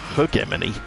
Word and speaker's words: hegemony: wasn't um but i i pronounce it hegemony which is i think the american way um according to google i should be saying it as her germany which just seems very strange indeed so for once